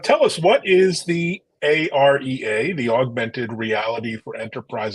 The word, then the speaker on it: AREA: us what is the a-r-e-a the augmented reality for Enterprise Alliance and maybe introduce yourself to our audience here yes thanks very much Evan yeah so we kind of pronounce it as the area and as you said